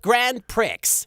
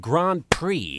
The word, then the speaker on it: Grand Prix: with the Kaiba Corp Grand Pricks You're a grand prick I think it's pronounced Grand Prix You're a grand prick